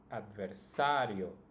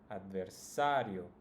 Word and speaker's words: adversario: first syllable yo and the second one would be sa so that's the one that should be pronounced the strongest adversario adversario in the next word